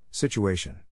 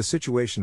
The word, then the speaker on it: situation: is in this case the accent is in the third syllable corresponding to a below are other ways